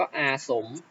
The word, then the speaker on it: อาศรม: ออก เสียง นะ ครับ จะ ออก เสียง เฉพาะ พยัญชนะ ตัว หน้า ไม่ ออก เสียง ตัว รอ นะ ครับ จะ ออก